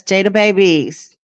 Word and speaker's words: Jada Babies: I believe it's pronounced J Babies, right, Ma? Yes, Jada Babies.